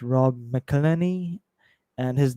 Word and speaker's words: McElhenney: And the creator of that show, Rob, I don't know how to pronounce his name. It's Rob McElhenney, and his name equals 266, and is born on 14th of April.